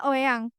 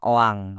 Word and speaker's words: Oeang: Bacanya Oeang. Enggak, bacanya Oang. Oang.